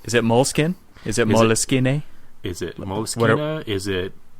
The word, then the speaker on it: Moleskine: Moleskine.